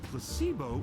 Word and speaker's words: placebo: after me placeo H the stress is on the middle syllable very good you're figing interest well a placebo is a pretend pill